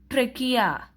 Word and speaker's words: trachea: You pronounce it as trachea.